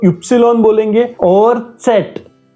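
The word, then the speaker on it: Zett: Epsilon Y को epsilon बोलेंगे और सेट। जेड को हम बोलेंगे सेट। जैसे त और स का साउंड आएगा।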